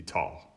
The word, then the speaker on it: tager: tager, I tager, de tager. It's just ta the whole way through, with the G not pronounced.